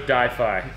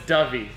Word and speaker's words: Dyfi: sake I thought it was difi yeah it was straight up but it's it's iPhone I've been told it's dovey right yeah okay I